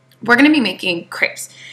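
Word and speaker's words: crêpe: going to be making crepes in France you pronounce it CB but if you did that in America probably you would just get did a cough drop so we're going to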